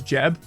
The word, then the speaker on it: Geb: how I say it I also used to say Geb as Jeb which I think is actually the way you properly pronounce it but I just end